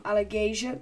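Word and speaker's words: Alagaësia: So I'm going to Tales from Allegasia. That's how they pronounce the land in the book.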